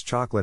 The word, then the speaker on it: chocolate: To pronounce chocolate, have in mind that the size of the syllable indicates where the accent or stress is. In this case, the accent is in the first syllable, corresponding to chaw.